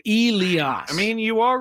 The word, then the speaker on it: Elias: Okay, it's EE, which is obviously E, and then the next part is capital LEE, Lee, and then AHS, Oz. So Elias.